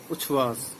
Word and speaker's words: उच्छ्वास: तो उच्छ्वास का जो सही उच्चारण होगा ये होगा उच्छ्वास।